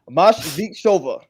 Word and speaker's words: Moskvicheva: Make sure I pronounce the name right. Moskvicheva. There we go. So, Moskvicheva, the Happy Life Strategist, is a leadership and